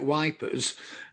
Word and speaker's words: Ypres: I think most people call it wipers, and that's Mancunian pronunciation for you.